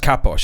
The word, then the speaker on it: Kapos: It's pronounced Kaposh, is it? Okay, fair enough.